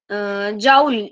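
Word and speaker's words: joule: जाउल की pronunciation जाउल ही होती है, जाउल। बच्चे Priyanshu, we are doing thermodynamics. Thermodynamics चल रहा है बेटा। कई लोग जूल भी प्रोनाउंस करते हैं, जनरली जाउल भी कर सकते हो।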